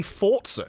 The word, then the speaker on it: Forza: I think Xbox came out and said, actually, Forza is Italian, and so it's actually Forza, because it's pronounced that way.